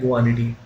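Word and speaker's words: guanidine: इसको बोलते हैं गुआनिडीन, इसका नाम कुछ, इसकी स्पेलिंग कुछ ऐसी होती है।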